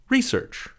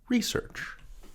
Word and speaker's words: research: Research. Research. Also research. Two pronunciations.